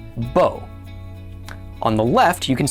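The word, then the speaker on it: בּוֹ: That vav, when it's combined with a cholam, does not make the V sound. It's just considered part of the cholam vowel.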